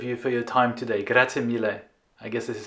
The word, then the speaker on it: grazie mille: Grazie mille.